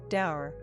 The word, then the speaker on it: dour: Severe, somber, stern, serious, grim, grave, dour, properly rhymes with poor, not sour.